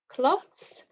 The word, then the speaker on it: cloths: has a different meaning cloths versus clothes can you hear the difference in pronunciation cloth clothes cloths clothes the second one is voiced the first is unvoiced and there's a difference